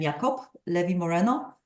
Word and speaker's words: Jacob Levy Moreno: of this man uh Jacob Levy Moreno or how he would properly pronounce his name yob Levi Moreno uh is something which